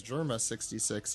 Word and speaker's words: Germa 66: I say that because germa 66 is apparently supposed to be pronounced like that or what is it germa double six yeah there's a lot